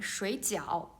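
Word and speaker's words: 水饺: Okay, so we can see the tones is different, but the syllable is same. They have the same initials and the same finals, right?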